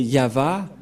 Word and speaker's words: Yahvah: Il s'agit donc de translittérations fausses que les catholiques romains ont fait, mais l'original c'est ceci, c'est Yahva, Ilshama, Yahva Shmo.